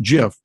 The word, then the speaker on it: GIF: that is using the Jif files gif which is pronounced jiff and it gives you